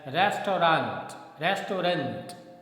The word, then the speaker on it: restaurant: Okay, the next word, RESTAURANT, and generally we speak this word as restaurant, okay, but the correct pronunciation is restaurant. It's a French word which has come to English from French language.